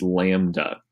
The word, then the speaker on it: lambda: It's actually a Greek letter, and how you say it is lambda.